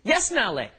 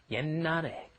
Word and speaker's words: 옛날에: You see that sh at the bottom there, you're thinking, 옛날에. No, that's not how it's pronounced. A lot of the time when the pachins come up against another consonant, then they will be kind of swallowed, held back, glottalized. It's called, so what you're doing is you're just pronouncing an N, 옛날에.